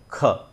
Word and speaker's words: ख: के एच लिखने का मतलब यही है कि हम उसमें क और ह दोनों का उच्चारण करेंगे। तो क, ख, क में ह जोड़ा और उसको हमने जब उच्चारण किया कंठ से तो वो बना ख।